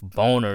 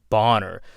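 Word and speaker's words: Bohner: character now his name is not called ralph boner it's called ralph bonner she just she just kind of pronounced it wrong in my opinion that's how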